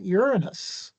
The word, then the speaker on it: Uranus: far from the planet Uranus. This uh planet can be pronounced several different ways, none of which are very comfortable. Uranus, Uranus, Uranus. Take your pick. I like Uranus. That's how I learned it.